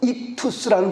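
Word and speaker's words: ΙΧΘΥΣ: 그래서 이걸 발음을 해보면 익투스라는 발음이 되는데, 익투스는 뭐라 그랬어요?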